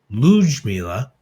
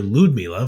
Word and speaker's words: Ludmila: But she, from the Gal Pal Sports Blue Sky account, pardon me, posted a video of Lujmila, pardon me, pronouncing her name. And so we've been calling her Ludmila for, more than a year at this point.